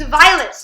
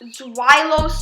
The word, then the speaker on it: Zweilous: And by the way, it's Zweilous, not Zweilous or whatever, because I watch JR Skater's pronunciation, and that's how I'm smart.